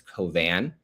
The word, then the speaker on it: Cauvin: would point out is J.L. Cauvin. That's the Trump impersonator and comedian and attorney who's running. Cauvin is Cauvin.